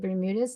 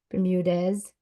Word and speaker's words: Bermudez: Is it Bermudas? Did I say that right? Or is it Bermudez? Depends on where you're at. Everybody says it differently, so that's a Okay.